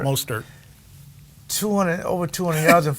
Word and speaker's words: Mostert: Mostert. Mostert.